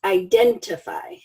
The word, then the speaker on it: identify: the next word is identify identify strong syllables second one second syllable identify and it is a